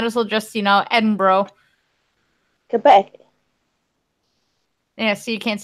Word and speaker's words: Edinburgh: Well, considering you can't say Quebec, I might as well just, you know, Edinburgh.